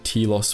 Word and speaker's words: Telos: to believe there was a Jedi Academy on Telos IV , knowing that Nihilus would be unable to resist such a target. But it was a trap - there were no Jedi on Telos, and Kreia had made sure that Surik would